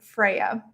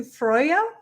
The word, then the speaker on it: Freyja: i'm using the term freya um the pronunciation but that's not really the correct pronunciation it's closer to freyja so i debated should